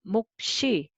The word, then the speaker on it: 몫이: So first syllable you read with the first character, and then second character you carry over. Okay, so it will become 목시, 목시.